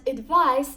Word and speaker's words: advise: piece of advice and advice that is riddled with the letter S and pronounced with the sound Z is a verb it